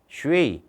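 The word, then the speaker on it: 水: 슈웨이 뭐라고요? 수가 아니라고 슈웨이 이로 끝나요. 슈웨이.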